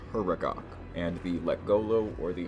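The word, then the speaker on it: Huragok: Engineers which I made the mistake of calling hormon the last time I talked about them but let me assure you it is pronounced herok and the leolo or the hunters both would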